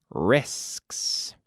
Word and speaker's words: risks: I don't like to run risks. Pay attention to my pronunciation there. Risks. Risks. Sk, sk, sk. Es como, que asco.